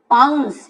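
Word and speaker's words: pounce: पाउंस, यहाँ पे सीई को आप देख रहे हैं, सीई लिखा हुआ है, इसे हम सीई का स उच्चारण होता है।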